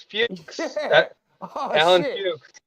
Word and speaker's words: Fuchs: was Fucks. It's Did you really? Fuchs. Nah, it's Fuchs.